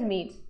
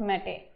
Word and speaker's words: mete: So another word is meets. So mom always meets out meat. So we'll pronounce as meet. The pronunciation of word is meet, not mete.